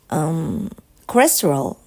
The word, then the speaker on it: cholesterol: It had something to do with cholesterol. Okay, when your cholesterol, I don't know which, cholesterol, right? Cholesterol. L comes before R, right? Cholesterol. In Japanese, we pronounce L and R the same way.